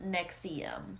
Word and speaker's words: NXIVM: with that being said let's jump right into nexium all right y'all so we are gonna discuss the rise and fall of nexium spelled in all capital letters nx ibm but it is pronounced nexium who even thought of that stupid i don't